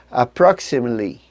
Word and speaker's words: approximately: engolisse uma sílaba inteira Então não é a proxy mei lin a penúltima sílaba desaparece aprox e Miley a outra palavra que